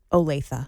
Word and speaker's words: Olathe: How do you pronounce that on TV? Olathe.